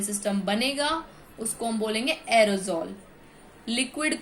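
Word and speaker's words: aerosol: अब बात करेंगे एरिजॉल। एरिजॉल क्या होता है, एरोजॉल, sorry, it pronounced एरोजॉल।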